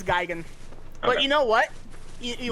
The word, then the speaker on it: Gigan: so it's so goofy was it pronounced gigan i've always pronounced it gigan that yeah it's geigen but you know what